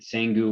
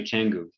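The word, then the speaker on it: Canggu: if you pronounced it sengu or kangu or something like that but it's actually changu the c is always ch anyway so richa is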